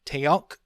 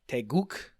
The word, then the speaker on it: Taeguk: I, standing before the noble Taeok, oh boy, I better check to how to pronounce that. Taeguk.